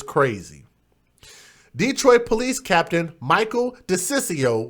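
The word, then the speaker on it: DiCiccio: Detroit police captain Michael de Ciccio which is a very hard name to pronounce but I practice beforehand but it's Dec ICC IO that sounds like some type of an Italian name desist you said that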